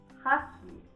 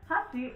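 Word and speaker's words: 箸: Hashi is chopsticks. Hashi is bridge. The emphasis on the second part? Yeah. Yeah, like the bridge is more neutral sounding, I would say.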